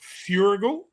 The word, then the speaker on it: Feuerriegel: say no that's is it furygal yeah that's it yeah yeah yes i